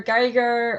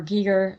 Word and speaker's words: Giger: I like H.R. Geiger or Giger, however you want to pronounce it.